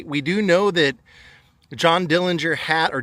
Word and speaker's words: Dillinger: They we do know that John Dillinger hat or Dillinger, they say that's how it's actually pronounced.